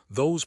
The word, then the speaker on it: those: And guess what? It ends in a z again. Pronunciation th h o zz rhymes with rose. Knows goes. T h o zz. Those like rose.